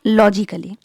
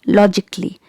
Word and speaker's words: logically: word is logically logically it's not logically here letter a is silent so keep it silent and pronounce it like logically logically okay next word